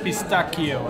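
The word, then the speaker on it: pistacchio: So whenever you see something that's C-I, you make the C-H pronunciation. When you see something that's C-H, you make the K pronunciation. C-I is C-H and C-H is K. So it's actually pistachio, it's not pistachio.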